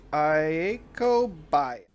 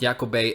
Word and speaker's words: Iako Bei: He's kind of known for butchering most of the band names, but yeah, it's supposed to be pronounced Yakobe, and I would kind of compare it to Bon Jovi.